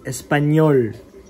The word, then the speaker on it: español: Espanol. Yeah, you know how you're ending your mouth should be like this. Espanol. Espanol. Espanol. Yeah, oh, like an O sound.